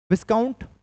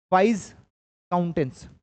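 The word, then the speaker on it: viscount: Steward you कैन से विस्काउंट वाइस काउंटेंस इसको वाइस काउंटेंस भी बोलते हैं और वाइस काउंट भी बोलते हैं। वाइस काउंट या विस्काउंट दोनों आप कह सकते हैं।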